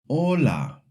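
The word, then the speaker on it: hola: For example, ola means hello. Hotel means hotel. Mano means brother. See the H is written but you don't hear it.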